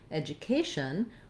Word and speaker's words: education: syllable being long then when it comes to education we have the stress on the k syllable that letter a says